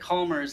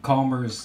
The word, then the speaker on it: Chalmers: I'm going to go ahead and pronounce that Calmers. It's C-H-A-L-M-E-R-S instead of Chalmers.